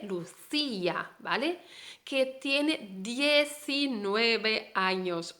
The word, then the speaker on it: Lucía: la luz y ya él lleva tilde también el ay y entonces la tónica es y entonces se dice lucía vale que tiene 19